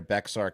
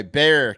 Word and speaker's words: Bexar: We still got silent X's at the Alamo. Yeah. This is 20 miles north. Yeah. Anyway, Bexar County, spelled Bexar.